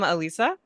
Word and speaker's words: Elisa: So, welcome Alisa. I'm saying that right. Right. Yeah. Yeah. Alisa, if you want to pronounce it the Spanish.